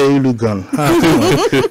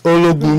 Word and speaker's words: Ologun: That's the Nigerian pronunciation. I used to say Ulugun. How dare me? This is Ologun, Mr.